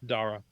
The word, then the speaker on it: Darragh: Scott Amis posted a pronunciation. Oh, Dara. it's Dara.